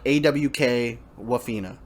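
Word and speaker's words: Awkwafina: her name is but it's spelled like awkward like awk waffena okay so so she's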